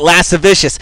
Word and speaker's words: lascivious: videos I like though finally someone who pronounces lascivious correctly yeah exactly right last a vicious that's what uh Dale